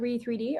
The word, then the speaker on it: Re3D: We call it Re3D, RE3D. Okay, yeah, that's what I thought. I was like, is it Reed? Is it RE3D?